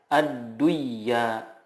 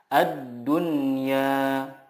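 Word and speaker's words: الدنيا: izhar mutlak izhar mutlak contohnya addunya tidak dibaca adduya tetapi yang benar adalah addunya bunyanun ininwun sinwa Nun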